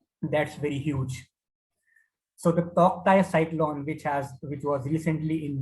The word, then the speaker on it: Tauktae: The Toktai is pronounced as Totai, and in Burmese language, it means Gecko, highly vocal lizard.